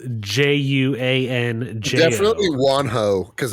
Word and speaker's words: Juanjo: dude's name is it do you think it's wanho or juan joe guanido how is it spelled it's spelled j-u-a-n-j definitely wonho because it's spanish yeah you're probably right and